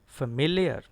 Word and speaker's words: familiar: It is familiar. Familiar. Stress is on MIL.